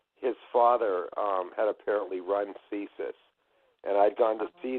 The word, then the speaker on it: CSIS: Yeah, they call it CSIS. CSIS. And my partner in the production company, Lionsgate, his father had apparently run CSIS.